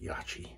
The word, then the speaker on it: Yaqi: loaded with a blade and this is the yaki un named razor i know it's pronounced yachi but it's a dual open comb and it